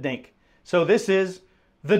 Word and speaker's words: diNGK: think in the dictionary this is going to be the Phonics spelling of it so this guy actually spelled it dink so this is the dink paddle and uh this